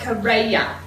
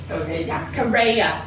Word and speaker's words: Correa: And whenever we hear other Rhode Islanders say his name, it's Todd Correa. Correa.